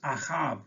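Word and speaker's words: אהב: en este versículo 2 la palabra hebrea para amores ahab así se pronuncia que pues es una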